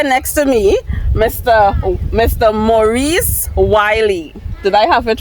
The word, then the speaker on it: Wylie: No, W-Y-L-I-E. So I W-Y-L-I-E. So Oh, that's normally when I spell it for people, I say Wylie.